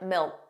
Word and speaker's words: milk: And milk sounded like milk. So did you hear that the final K sound, that K, was not pronounced? It was just a milk, milk. So you put your tongue in the position of a K, milk, but you just don't push out that sound.